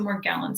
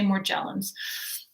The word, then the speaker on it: Morgellons: ever heard of this I pronounce it Morgellons some say more jealous Morgellons disease is an